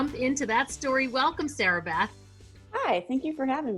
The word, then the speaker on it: Sarahbeth: it to sarah but it is definitely not sarah it's sarah beth and as my brother